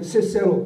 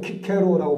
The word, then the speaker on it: 키케로: 로마의 정치가였고 유명한 철학가이기도 했던 시세로, 키케로라고 발음하게.